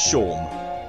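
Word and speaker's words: Seam: John. Don't have anything better to do. Actually, it sounds like the librarian from Symphony of the Night. Yeah, you got that. Yours. About yourself. Name's John. Pronounce Sean.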